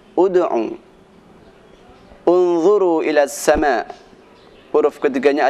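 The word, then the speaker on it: ادْعُ: Seperti bacaan ud'u ila sabili rabbik, huruf ketiganya adalah ain. Ain dibaca dhammah, maka dibacanya ud'u.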